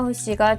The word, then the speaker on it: Hussey: 해 근데 그거 알아 사실 우리에게 익숙한 이름인 올리비아 세는 일본식 발음이라고 하더라고 원래는 올리비아 허씨가 정확한 표현이라고 하는데 어딘가 많이 낯설지 그녀의